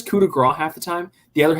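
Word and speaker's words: coup de grâce: de grace he says he says coup de grasse like it's weird he says it he'll but he only says like half the time he says kuda grah half the time the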